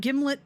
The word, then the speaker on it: Gimlet: is a jar of gimlet peanut butter a brand primarily noted for arguments about how to pronounce it according to the manufactury it rhymes with himlet him okay that doesn't